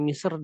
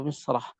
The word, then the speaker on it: مصر: Tapi khusus Misr kan dia lebih aula, lebih utama untuk ditebalkan.